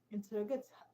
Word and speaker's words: interrogate: Just like in the word interrogate, the stress is on TER. Stress on TER, okay, not on IN.